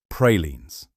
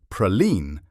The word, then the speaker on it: praline: Number 10, pralines. The first mistake is the pronunciation. In much of New Orleans, you are more likely to hear something closer to praline than praline.